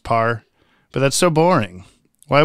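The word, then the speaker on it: Paur: people directed by Frank power we haven't had for a little while yeah so I just recently found out it's just pronounced par but that's so boring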